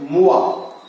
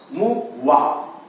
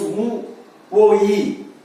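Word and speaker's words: moi: You should not pronounce wo-e. You have to pronounce it as wa. So, example. You take mua. Mu-wa. We should not pronounce mu-wo-e.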